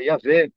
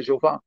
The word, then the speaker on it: Jeová: questão de usar a pronúncia yavé ou a pronúncia yehova ou a pronúncia eh yá que aparece na estu artênia ou alguma outra pronúncia e e deixar de lado a pronúncia Jeová Na minha opinião não